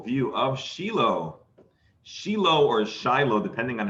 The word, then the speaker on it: Shiloh: of shiloh shiloh or shiloh depending on how you pronounce it in hebrew it's sheelo oh he's going to